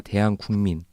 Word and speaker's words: 대한국민: 이렇게 어떤 패널분 자꾸 대한민국이라고 읽으시더라고요. 저일 것 같은데. 근데 그게 되게 자연스러운데 네. 이제 헌법 전문을 처음 만든 사람의 의도는 이거였던 거예요. 그러니까 대한민국이 아니라 대한국민. 그러니까 우리가 주체니까.